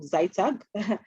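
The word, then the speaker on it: ZITAG: Mwenechanya as coming from Zaitag. That's how that's pronounced.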